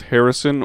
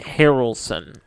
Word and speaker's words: Harrelson: wait I'm sorry was this pronounced Harrison or Harrelson Harrelson ah yes because he is